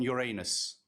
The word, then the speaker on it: Uranus: How do you pronounce it in English? In English, you pronounce it Uranus.